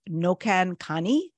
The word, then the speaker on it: Noqankani: And it is now, the best pronunciation for me is Nokan Kani.